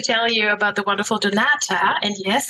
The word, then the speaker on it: Donata: you about the wonderful Donata and yes I'm pronouncing it in a very German way because there's a reason why I pronounce it this way but first of all a warm welcome to Donata Boston.